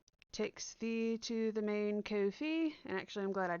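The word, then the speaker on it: Ko-fi: actually found that out it's not pronounced coffee despite they have a coffee cup symbol it's actually pronounced Kofi which I think is funny but buy me a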